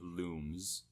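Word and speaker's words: Lums: Rayman 3 you know how they say lungs in the game it's actually pronounced looms yeah cuz I don't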